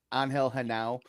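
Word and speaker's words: Genao: Angel Hanau.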